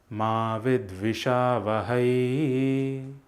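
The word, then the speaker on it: मा विद्विषावहै: Finally, there is a certain musical drag which is associated with the words Ma Vidvishavahai. It goes as Ma Vidvishavahai.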